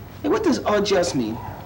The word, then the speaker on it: au jus: Hey, what does au jus mean? That's au jus, pronounced correctly.